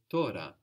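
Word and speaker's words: τώρα: you doing now the word for now is Torah Torah t-o-r-a good so how would that be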